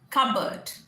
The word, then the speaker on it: cupboard: Next is cupboard, CUPBOARD, CUPBOARD is cupboard, P silent, cupboard।